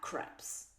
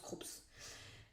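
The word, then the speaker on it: Krups: Euh moi avant je prononçais ça Craps. C'est Croups, ça se prononce Croups.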